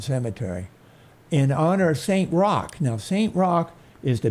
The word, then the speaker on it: Roch: for its ghost stories this is the saint Rock chapel and Cemetery now it's spelled Roch but it's French so it's pronounced